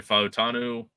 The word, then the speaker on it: Fautanu: As Gunner's saying, Troy Fautanu. Hang on, I gotta check my pronunciation guide.